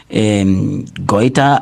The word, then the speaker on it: goiter: It is what you call the goiter, which I usually tell my students that I call it hoiter. All right, yes, it sounds like Afrikaans, yeah, but it is goiter or goiter, the way how you want to pronounce it, but make sure that the spelling is correct.